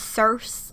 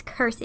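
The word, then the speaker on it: Circe: of crazy and kursi her name is actually pronounced Kirstie I've seen a lot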